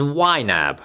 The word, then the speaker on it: YNAB: budgeting only there is you need a budget pronounced as yab this online and mobile software which is subscription